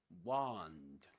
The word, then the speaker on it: wand: But in American English this is wand. Wand. Shall we listen to that? Wand. Wand. Wand with a long r sound in American English, but in British English with a short o sound.